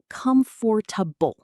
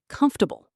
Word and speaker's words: comfortable: People think it's comfortable, four syllables, but really, it's often said more like comfortable, three syllables, kind of squished together.